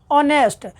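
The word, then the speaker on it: honest: ए इसलिए नहीं लगेगा क्योंकि इसका जो उच्चारण है ऑनेस्ट हो रहा है। क्या हो रहा है? ऑनेस्ट। यानी कि इसका उच्चारण आ रहा है।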